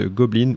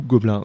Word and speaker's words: Goblin: Radio Primitive on s'écoute gobbline ou gobelin comme vous voulez le prononcer